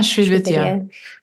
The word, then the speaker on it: Sri Vidya: talk about your path through, you've been studying a certain sect of Tantra, Sri Vidya, is that how you say it? Yeah, Sri Vidya.